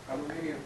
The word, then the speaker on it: aluminium: How do people in the UK say aluminum? Aluminium.